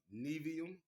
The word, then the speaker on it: Nevi'im: books, one called the Nevi'im and one called the Ketuvim. Now, Nevi'im is spelled Nevi apostrophe I-M.